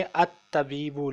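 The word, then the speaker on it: الطبيب: इसको हम पढ़ेंगे अत तबीबु, लाम साइलेंट होगा इसमें, तो आ जो है वो हरफ शमसी है।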